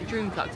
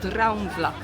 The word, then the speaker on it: Droomvlucht: Yeah, it's not Droomvlucht, it's Droomvlucht.